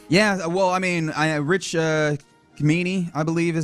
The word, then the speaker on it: Cimini: Yeah, well, I mean, Rich Cimini, I believe is how his name's pronounced. Oh, Cimini. Cimini.